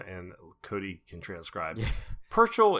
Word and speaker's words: Purchell: Purchell is pronounced the way our British friends say Churchill. He's super nice and never corrects when someone pronounces it Perch Hill.